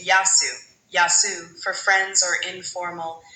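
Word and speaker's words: γεια σου: It's more like yasu with a soft a sound in the middle like ya then su. Give it another shot. Yasu.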